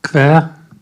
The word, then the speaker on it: quer: Does anyone here speak German with a German accent? Yes? Okay, the word that is spelled Quer or Kweer in transliteration.